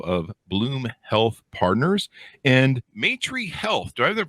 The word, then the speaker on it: Maitrey: He is the CEO of Bloom Health Partners and Maitrey Health. Do I have that pronounced right, Andrew? Maitrey, that's right.